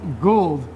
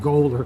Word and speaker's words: Goold: Miller so sue you're carrying it son sue gold that's how you pronounce it yes cuz I was calling you like Golder Oh to gould miller yes Gould orchards correct